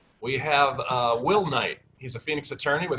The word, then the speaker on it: Knight: Please welcome Will Knight with a silent K, knockout.